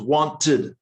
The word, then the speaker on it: wanted: one syllable um loved but with ed you have two syllables wanted wanted this is a